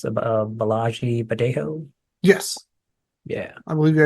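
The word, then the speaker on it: Bolaji Badejo: Balagi Badejo.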